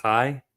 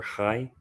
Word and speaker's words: chai: It's a Kai. The letter Kai, I believe. Five. Spel spelled like chai t c h a i.